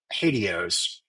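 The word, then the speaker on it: HATEOAS: Um sometimes when you pronounce this term it sounds a little bit like hados uh which is like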